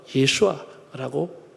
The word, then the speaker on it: 예슈아: 히브리 발음으로 여호수아, 예슈아라고 부르고 있습니다.